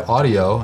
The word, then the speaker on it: Audiio: But this year, Audiio, and that's Audiio spelled with 2 I's, reached out and became a